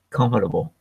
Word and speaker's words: comfortable: Interest, vegetable, comfortable, library, difference.